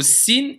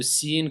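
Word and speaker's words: س: Bout de la langue avec ce qui est au-dessus des incisives inférieures. Donc, vous voyez, la langue, elle va se mettre au niveau des incisives inférieures. Et pas z, et pas th.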